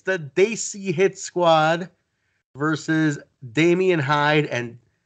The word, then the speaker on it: Desi: Desi, not Desi. For God's sake, put that pronunciation down right, please.